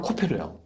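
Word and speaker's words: כֹּפֶר: 칸들을 맡고 역청을 안팎 칠하라 그랬는데이 역청이 발음이 코페루야.요 나무는 고페루죠? 네. 나무는 고페루인데 역청이 히브리말로는 코페로예요.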